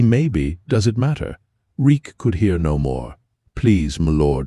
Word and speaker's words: Reek: My name is Reek. He had to remember his name. It rhymes with freak.